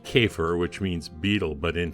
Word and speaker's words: Käfer: You know, the Germans, I think it's pronounced Käfer, which means beetle, but in France, they called it the ladybug.